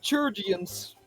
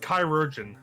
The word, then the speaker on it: chirurgeon: Chirurgians. Oh, it's pronounced chirurgeon.